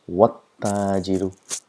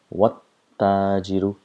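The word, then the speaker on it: والتاجر: So what happens is we pronounce as though the letters don't exist at all. So pronounce it wat-tajiru, wat-tajiru.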